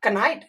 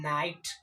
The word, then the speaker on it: knight: जैसे अगर एग्जांपल में हम लोग लेते हैं एक वर्ड KNIGHT, इसको आप क्या पढ़ते हो, कनाइट? नहीं, इस वर्ड का जो उच्चारण होता है वो होता है नाइट।